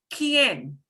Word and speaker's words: quien: Quien. Quien. Quien. And when we've got more than one vowel, here the U is going to go silent because it's Q-U-E or Q-U-I, right?